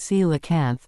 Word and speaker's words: coelacanth: so-called dinosaur fish, the SEE-la-kanth. This mysterious deep-sea fish, once thought to have disappeared alongside the dinosaurs, has shocked the scientific world by reappearing in our time. Let's dive in. The SEE-la-kanth, pronounced SEE-la-kanth, is a species of